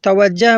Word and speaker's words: توجہ: یہ لفظ توجہ ہے، اس کو اکثر لوگ توجہ بولتے ہیں، یعنی جیم پر زبر بولتے ہیں، جبکہ جیم پر پیش ہے، یعنی صحیح تلفظ ہے توجہ۔ توجہ کا لفظ وجہ